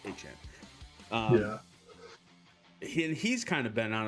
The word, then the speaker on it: Etienne: He told us Etienne sounds better. The correct pronunciation of his name is actually pronounced Etienne.